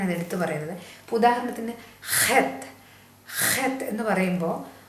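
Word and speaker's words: חית: വരും അതുകൊണ്ടാണ് ഞാൻ ഇത് എടുത്തു പറയുന്നത് ഇപ്പൊ ഉദാഹരണത്തിന് ഹെത്ത് ഹത്ത് എന്ന് പറയുമ്പോൾ ആ ഒരു അതിനകത്ത് ഒരു ആറ്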